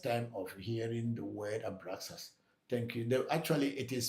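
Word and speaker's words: Abraxas: So abraas is not abraus it's a it's x a s not x u s thank you and then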